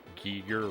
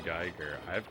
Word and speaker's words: Giger: Is it tacky to point out his name is pronounced Giger rather than Geiger?